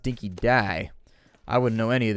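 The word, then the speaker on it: dinky-di: Apparently, it's pronounced dinky dye.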